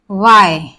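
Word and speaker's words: why: भी हमारा H silent हो जाता है, एच साइलेंट रहता है। फॉर एग्जाम्पल वाई, तो हमारा हु, वाई, और वाट, वेयर।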